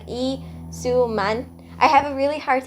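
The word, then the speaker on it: Lee Soo-man: entertainment in 1995 okay the way you actually pronounce his name is like e su man I have a really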